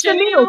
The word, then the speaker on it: Chanel: So whatever you say, Hollywood, that's how it's you pronounce her Chanel. name. Her name It's is Chanel. Chanel.